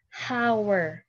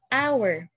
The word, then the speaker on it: hour: not read this as how right We Do not read this as h or how we read this as hour So it is a silent h So if a word